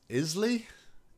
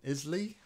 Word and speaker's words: Isle: It's pronounced Isley? Isley? That's Isle, isn't it? The Isle of Skye. Hold on, I've got to Google this now. Yeah, it's Isle.